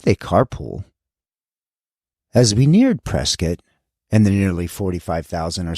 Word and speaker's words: Prescott: well that look like Prescott to me but around here they say Prescot and why well the